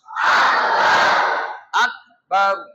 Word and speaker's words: আল্লাহু আকবার: কয়টা হইলো দুইটা আমি প্রথম শব্দটা উচ্চারণ করছি আল্লাহু আল্লাহু আকবার আপনারা প্রথম শব্দটা উচ্চারণ করেন আল্লাহু